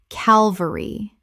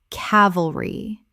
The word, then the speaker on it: cavalry: Word 287, cavalry, common mispronunciation, Calvary. Correct pronunciation, cavalry. 3 syllables with the stress on the first.